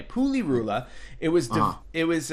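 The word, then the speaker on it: Pulirula: to pronounce that correctly it's ruler yeah it's poo or it spoolie ruler like PU Li are you la Puli Rula it was done it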